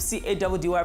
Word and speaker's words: Caddy: I go by the name of C-A-D-D-Y, pronounced Caddy, and I'm and Hamba Nosia, and we're gonna take you guys on another journey of life, science, and fun.